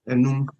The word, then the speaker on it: enum: And 5 is enum. Enum. Remember, this is how, yes, this is how we sound it. Enum.